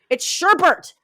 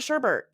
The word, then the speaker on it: sherbet: sure bet why can't I think it's sherbatch it's sherbet yeah we pronounces it that way nobody says oh I want some sherbet no they're like oh I want Sherbert like we all pronounce it that way I